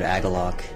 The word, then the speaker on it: Agalloch: smoke but um eventually I found the word agalloc it was just an old dictionary um and